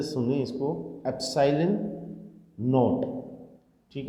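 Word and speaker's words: epsilon naught: तो बेटा k equals to होगा 1/4 पाई एप्सिलॉन नॉट। ये प्रोनाउंसिएशन अच्छी तरह से सुने इसको, एप्सिलॉन नॉट।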